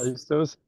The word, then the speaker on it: Phaistos: Your book actually explains if I pronounce it correctly, the disc of Phaistos. And Um, Discophistos, yes. Phaistos, and the little saucer image that's right there.